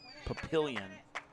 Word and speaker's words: Papillion: So the emphasis was on the middle syllable, pill, Papillion.